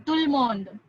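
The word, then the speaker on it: tout le monde: But we don't pronounce it tooth ल mond. एक flow में बोलते हैं तुलमोंद. तो बीच में ब्रेक्स नहीं लेना है. तुलमोंद एक साथ बोलना है.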